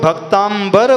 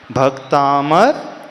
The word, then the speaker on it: भक्तामर: है भक्तामर स्तोत्र तो जो लोग भक्तांबर बोलते हैं यानी भक्त धन अंबर वो उच्चारण ऐसा करते हैं तो उनसे कहना है अपने उच्चारण को सुधार ले इस स्तोत्र का नाम भक्तांबर नहीं है बल्कि भक्तामर स्तोत्र है क्यों भक्तामर स्तोत्र नाम